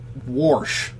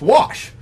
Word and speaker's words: wash: Warsh. There's no R. It's wash.